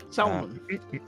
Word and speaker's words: salmon: wrote down and uh salmon you don't pronounce the L Sal name after the